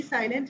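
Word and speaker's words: psi: और सिंबल मैंने आपसे कहा था बेटा पी साइलेंट है, वी कॉल इट साइ.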